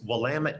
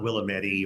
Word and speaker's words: Willamette: by saying you know it's Willamette damn it and that's a way for people to remember uh it's not Willamette or some other pronunciation